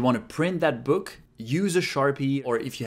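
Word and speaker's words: う: have how to pronounce u is pronounced like in other words it sounds just like uh in Uno the card game or the number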